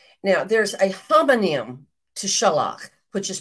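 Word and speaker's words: שלח: There are two words in Hebrew which are pronounced like this, shalach.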